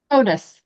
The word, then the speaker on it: Hodous: So, uh, can you pronounce your last name for me? Otis.